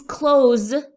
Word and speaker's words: close: Please close the door. Close. Close. You have the sound of Z.